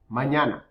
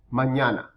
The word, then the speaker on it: mañana: Mañana. Na. Remember we talked about the letter ñ, that little N with a little squiggly on top? That sounds ña. Mañana.